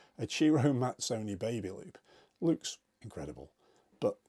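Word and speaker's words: Ciro Mazzoni: For example, a Chiro Mazzoni, yes, it's pronounced Chiro, a Chiro Mazzoni baby loop looks incredible.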